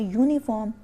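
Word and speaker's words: uniform: जो है यहां पे यह ववलू है बट यह साउंड जो है ववलू कि यह य य साउंड दे रहा है तो ये य साउंड जो है वो वोल साउंड नहीं होती तो इसलिए हमको हम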